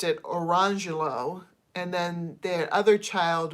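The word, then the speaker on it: Orangejello: And this is where the Jello comes in, because someone named their kid spelling wise Orange Jello, but pronounced it Orangelo.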